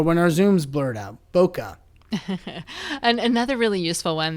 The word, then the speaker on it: bokeh: it's spelled interestingly because it ultimately comes from japanese bokeh and that is a